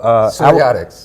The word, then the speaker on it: psoriatics: So psoriatics. Yes. Okay. Yeah. So it's spelled differently. It's kind of confusing. The P is silent.